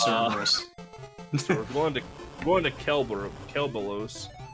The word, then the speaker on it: Cerberus: It's Cerberus. So we're going to Kelbalos. Yeah, in Greek you pronounce the L as an R, so it's just Cerberus.